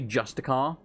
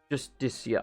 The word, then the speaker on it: Justiciar: I've got to remember how to say that, because I used to say Justicar, and then I said it wrong again just now, so it's... Justiciar.